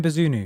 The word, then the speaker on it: Bazunu: dashed um first on the list is gavin bazuno uh bizunu gavin bazunu yeah that's it that's that we're really bad at pronouncing things on this channel you know i